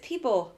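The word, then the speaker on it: Peabo: Oh, is it Peebo?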